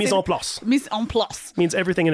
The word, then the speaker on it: mise en place: Mise en place.